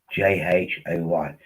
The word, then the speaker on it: Joy: But basically, the name is Joy, Jhoy. That's how you pronounce it.